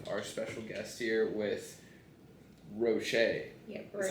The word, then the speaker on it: Roche: So we're back in West Tampa again, and we have our special guest here with Roche.